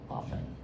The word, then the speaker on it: often: So, that's why it bothers me when I hear people pronounce the T in the word often.